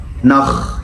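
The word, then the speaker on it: nach: الCH عندنا لو جت بعد 3 حروف معينين بتنطق خ. 3 حروف دول هما الآ و واحفظهم عشان لو الCH جت بعدهم بتنطق خ.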